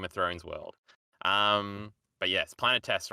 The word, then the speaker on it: Planetes: I always go to say Planetos because that's the name for the Game of Thrones world. But yes, Planetes, right?